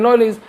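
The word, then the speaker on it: knowledge: बोलते हैं नॉलेज की स्पेलिंग की अगर हम बात करें तो के एओ डब् एल ई डीज ई तो के और ए में के साइलेंट हो जाता है और डी और जी में डी साइलेंट तब इसे पढ़ते हैं नॉलेज रीजन क्या है कोई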